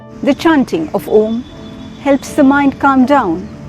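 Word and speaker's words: ॐ: universe the first sound this Universal sound is a combination of three syllables a u and Ma when we pronounce om as we say ah the lower portions of the body up to the stomach are activated as we say oo the chest area is activated with ma the face and the brain gets activated the proper pronunciation of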